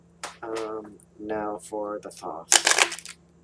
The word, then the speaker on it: Thoth: maybe thought you know people pronounce it different ways i don't think it matters in this way but i'm going with thoth i mean it sounds a little bit cooler to me anyway now according to